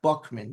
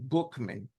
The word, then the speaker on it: Buchman: Frank Bookman, and that's how he pronounced his name, not Buckman, Bookman, had a profound spiritual